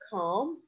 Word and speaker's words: calm: Listen, cough, calm, calm with silent L.